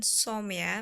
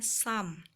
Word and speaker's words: some: some cake some itu jadi bukan Somya bacanya Sam Cook some cake memasak kue